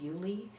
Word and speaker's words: Yulee: Some people really were staying with Yulee, but spelled phonetically Ulee, so it doesn't really make sense.